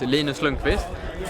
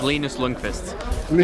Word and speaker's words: Linus Lundqvist: Okay, so I have two pronunciations. I have the Swedish one, which is Linus Lundqvist, or I have my international one, which is Linus Lundqvist. You can go with the Linus Lundqvist one.